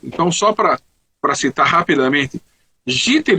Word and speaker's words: jitter: O nome é jitter, J-I-T-T-E-R, jitter. E na hora de digitar, se escreveu gister. Ao invés de jitter, ficou gister, né?